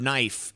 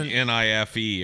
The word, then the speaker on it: knife: to spell the word knife, still knows that the K is silent? Yeah, it'd be like NIFE or some shit.